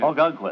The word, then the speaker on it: Ogunquit: Ogunquit, Mr. Marlowe. How do you say that again? Ogunquit. Let me try it. It's an Indian name. Ogunquit. How do you spell it, Bob?